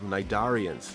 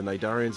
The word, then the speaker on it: cnidarians: Corps gonna say ax and the phylum of cnidarians now my darian starts with a c to c is silent and the cnidarians are basically in vertebrates marine invertebrates that some